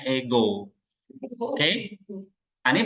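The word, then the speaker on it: ἐγώ: Nah, makanya suaranya naik, ego.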